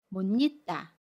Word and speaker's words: 못 잊다: 받침 시옷과 모음 이가 만나요. 그러면 못 잊다 라고 발음해요. 받침 시옷은 받침 소리 니은으로 발음하고요. 모음 이는 니로 발음합니다.